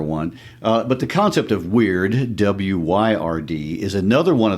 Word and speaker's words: wyrd: for fate there is this Anglo-Saxon term Wyrd, W-Y-R-D. This is another one of those cultural words that's worth taking a moment to think about. It sounds like the word weird, W-E-I-R-D.